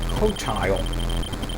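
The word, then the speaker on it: Qotile: sorry razak 4 um in here is the cotile q t i l e um that is how it's pronounced according to uh warshaw so I'm going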